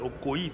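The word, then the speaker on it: Okoï: Les Okoi, là, vous l'appelez Okoi, moi je l'appelle Okoi parce que c'est un Mboshi, il y a un I à la fin. Et moi je dois prononcer le I là.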